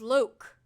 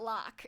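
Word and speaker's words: Lōc: Oh, it's Loc. I'm pretty sure Taker Kids tell me it's Loc. Okay, Loc. Yes, okay, Loc, not Lock.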